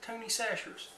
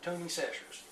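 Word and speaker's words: Tony Chachere's: I said, how does Tony pronounce his name? And they said, he says Tony Sacher's. So, it looks like Kachiris, but we call it Tony Sacher's.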